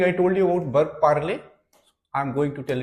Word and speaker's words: parle: a r l e what is pronunciation par I speak par you speak L par L form is also same so it is not